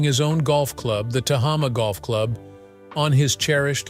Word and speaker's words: Tehama: coastline stretching from Monterey to Santa Cruz, Tehama, pronounced Tehama, features an exciting 18-hole golf course and an elegant 18,000-square-foot Spanish-style clubhouse.